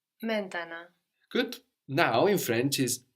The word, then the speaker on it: maintenant: main, and then nant, the N there on the end. So those are swallowed up into the nose. And we have the final T totally silent as well. So we end up with maintenant or maintenant.